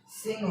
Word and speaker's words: सिंह: तो हो गया ये मेरा सिंह हो गया।